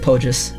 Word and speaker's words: Pogus: How do you say his name? Pogus? Yeah, that's how you say it, Pogus.